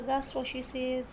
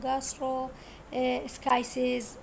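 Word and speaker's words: gastroschisis: الجاسترو شيز شنو طبعا لفظها يختلف شلون ما تلفظوها انتو، اكو يلفظوها جاسترو شيز اكو جاسترو سكايسيز حسب اللفظ مالتكم انتو شو تلفظوها.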